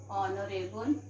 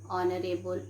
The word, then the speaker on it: honorable: h here is silent h here is silent okay like what to say children and honor our and honorable what do we pronounce